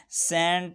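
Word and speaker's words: scent: अगर किसी लफ्ज़ में C से पहले S आता है तो C हमेशा साइलेंट रहता है। सेंट है, खुशबू को कहते हैं।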